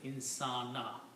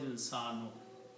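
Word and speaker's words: إنسانَ: Dhamma changes into a fatah. The word is pronounced as insana. Originally the word is insano.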